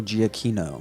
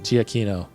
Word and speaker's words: Giacchino: Michael Giacchino. Giacchino, who is fantastic.